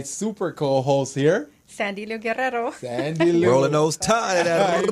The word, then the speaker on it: Guerrero: And my super co-host here, Sandy Lou Guerrero. Sandy Lou. Rolling those tongues. I'm like, am I saying it right? Yes. Guerrero.